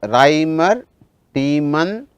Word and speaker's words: Reimer-Tiemann: The pronunciation is Reimer-Tiemann reaction.